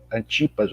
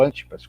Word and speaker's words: Antipas: Jesus levado a Herodes, Antipas ou Antipas, como alguns pronunciam, para que depois pudesse,